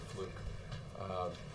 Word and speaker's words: Fluke: The president called Georgetown University law student Sandra Fluke, I think is actually how you pronounce it, because he wanted to offer his support to her.